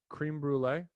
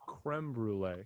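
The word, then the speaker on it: crème brûlée: to be a dick do you think it's actually called cream brulee because that's not that's that's not what it's called do you want to know how to say it sure it's called it's called creme brulee because it's french like french crema like creme brulee like that right but i like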